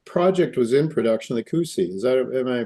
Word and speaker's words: Cusi: Yeah, so the project was in production, the Cusi. Am I pronouncing it right? Cusi, the Cusi mine?